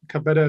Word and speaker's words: Cabeta: Uh Cabeta is how you pronounce it, but feel free to call me. Um Senator Breen and distinguished members of the committee. Good afternoon. My name is Cabeta and I'm policy counsel